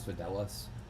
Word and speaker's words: Fidelis: handle the introduction forun you've pronounced the e in the Fidelis wrong wrong my mistake mispronunciation well my presence I I apologize as Fidelis thank you as now